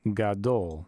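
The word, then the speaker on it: גדול: This symbol here is just where we're showing the accented syllable. Then we have a cholam vav and a lamed. So G, A, D, O, L, gadol.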